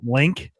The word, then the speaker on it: Link: by the way, GameBird, it's pronounced Link. It's not like No, it's not Lunk.